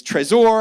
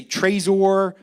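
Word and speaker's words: Trezor: that i always missed it's tresor i used to say treasure it's a baltimore accent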